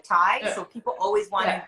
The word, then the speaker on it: Tai: my name my name my last name is t-a-i but it sounds like thai so people always want